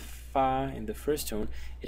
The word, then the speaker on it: 發: The first one is fa in the first tone, and the second pronunciation is fa in the fourth tone.